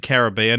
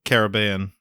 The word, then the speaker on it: Caribbean: So today we're talking about Pirates of the Caribbean, and just off the bat, I'm going to be pronouncing it Caribbean, not Caribbean.